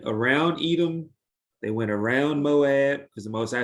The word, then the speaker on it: Moab: a lot of cattle oh it's called the moth but you're trying to read it and i want you to think no no no that's how i pronounced it oh no no no it's it's moab but remember that land